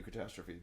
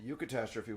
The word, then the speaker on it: eucatastrophe: Yes, pronounced EU. Like, well, there's a bunch of things like the Eucharist, right? Eudaimonia, things like that.